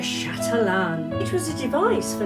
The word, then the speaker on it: chatelaine: So today we're going to talk about this beautiful item that was called a chatain or probably pronounced a chatalan.